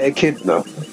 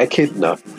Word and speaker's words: echidna: I'm gonna call it echidna oh yeah a kid enough that's how I've always pronounced it like Knuckles the Echidna I've always pronounced it